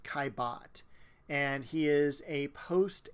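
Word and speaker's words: Caillebotte: name by the way his last name is pronounced kibot and he is a post impressionist artist the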